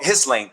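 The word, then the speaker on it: Ghislaine: And that explains why uh it was reported that Elene Maxwell is about to confess and reveal all the names of the list. Lee Maxwell, did I pronounce her name right? Oh, his lane.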